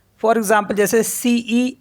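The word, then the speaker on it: cent: तो for example जैसे सीई एन टी तो इसको पढ़ते हम स क्योंकि टी साइलेंट होता है तो स हो गया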